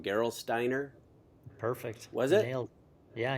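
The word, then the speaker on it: Gerolsteiner: Um you mentioned US Postal, Robbo Bank, uh I'm going to say it wrong, Geral Steiner.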